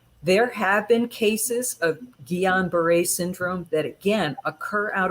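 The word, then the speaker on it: Guillain-Barré: syndrome which is pronoun it's a french word it's pronounced guillain-barre so or just gbs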